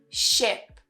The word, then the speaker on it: ship: Ship. So the first one is longer. Sheep. And you smile more. And the second one ship. We don't smile and it's shorter.